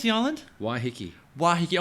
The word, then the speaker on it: Waiheke: Waiheke. Waiheke. I want to say Waikiki, but it's definitely not Waikiki.